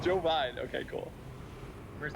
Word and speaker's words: Jovine: pronounced? Jovine.